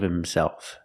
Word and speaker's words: himself: get a hold of himself you don't hear the H in himself get a hold of